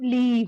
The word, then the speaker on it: leave: So leave. Yeah, This is live. live is like a short I and leave is a long.